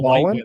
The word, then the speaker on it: Ballen: Ballin on YouTube? The guy used to be a Navy. I hope I'm getting his name right. It's like Mr. and then Ballin. Ballin is spelled Ballen.